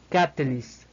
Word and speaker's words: catalyst: de la I española, finalizamos con una S española y una T más explosiva que el de una T española. Por lo tanto, el término se pronunciaría catalyst.